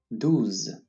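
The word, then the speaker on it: douze: say on once again douz this is a common rule in french whenever you have an o followed by an u you pronounce it as if you have two o's in the english language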